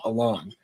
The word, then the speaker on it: Elon: Elon, and that is, by the way, how you pronounce his name, Elon.